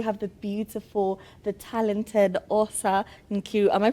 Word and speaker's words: Osa Nkiru: and now we have the beautiful the talented aa Niru. Am I pronouncing that correctly?